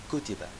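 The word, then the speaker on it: كُتِبَ: So, it can be pronounced as kataba, he wrote, or kutiba, it was written, or kutub, books.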